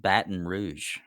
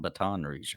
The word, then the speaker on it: Baton Rouge: i'm from louisiana it's it is pronounced baton rouge not baton rouge i just like to